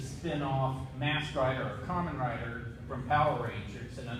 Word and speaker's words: Kamen Rider: The Kamen Rider, how do you say it again?